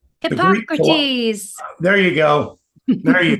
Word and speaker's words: Hippocrates: And those personalities were tied to different parts of the body, and Hippocrates, I always can't pronounce his name. What's his name? Hippocrates.